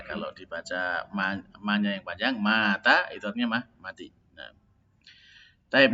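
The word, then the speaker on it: متى: Tapi bacanya yang benar. Mata ya. Yang panjang tanya. Kalau dibaca ma-nya yang panjang, mata artinya mati.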